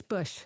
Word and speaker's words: Busch: Sure. It's Busch. It's Bush. Bush. Yeah, okay. like Anheuser-Busch.